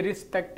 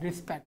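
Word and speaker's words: respect: RES का उच्चारण जो है वो रिस बनता है, रिस्पेक्ट, रेस्पेक्ट नहीं है, ये रिस्पेक्ट है।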